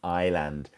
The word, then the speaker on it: island: So, yes, of course, this is an island. And, you know, and we we were to say this word phonetically, it's Island, but the S is silent.